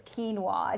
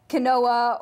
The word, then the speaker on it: quinoa: wait what how do you even begin to pronounce this it's quinoa it's not canola or key I don't know they come up